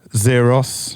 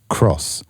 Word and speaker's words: XROS: you carry on possibly this here does not say xeros nope it doesn't say axros nope it's meant to say cross it's now it's cross everyone's been saying it wrong right so you know